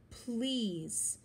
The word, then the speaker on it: please: a good manner word please has silent e on the end and the long e sound because EA are next to each other please play with us